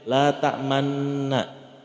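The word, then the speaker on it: لَا تَأْمَنَّا: kita bacanya ayat yang la ta'manna, ya kan? Tulisannya la ta'manuna, tapi kita bacanya la ta'manna, tapi pas ngomong nunnya mulutnya harus monyong. Agak monyong dikit, la ta'manna.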